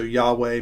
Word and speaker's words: Yahweh: And so it's the name that they would have known him as, the tetragram, can't even say the words, YHWH, which we think is pronounced Yahweh.